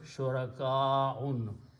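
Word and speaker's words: شركاء: So this should be pronounced at shurakaun. Okay. So the correct recitation is, you have to stretch this word shurakaun.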